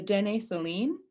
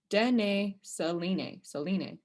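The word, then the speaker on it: Dene Suline: We've got the Woodland Cree, the Nakota, Plains Cree, the Siksika, the Dene Saline. Oh, sorry, I'm saying it wrong. Dene Saline.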